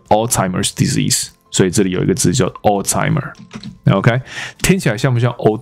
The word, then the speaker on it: Alzheimer's: For hiring a stripper、因为请了一个 stripper 来干嘛？来娱乐这些老人家，to entertain 娱乐，没错。那这些老人家他用了一个词叫做 old timers，没有问题啦。OK，old timers。那西方人会把这个字搞错，怎么搞错？有一个字叫做阿兹海默症，你知道？那它的发音是 Alzheimer's disease。所以这里有一个字叫 Alzheimer， OK，听起来像不像 old timer？